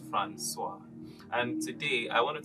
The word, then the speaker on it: François: And for the record, it is neither pronounced Francois or Francisco or Francisco, not even San Francisco, it is Francois.